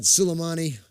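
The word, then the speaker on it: Soleimani: heard we took out how do you say his name bill cuz seeing sulemani sulemani that's it we took out sulemani a bad it would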